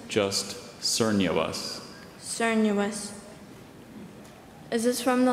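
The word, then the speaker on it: cernuous: Are there any alternate pronunciations? Just sernuous.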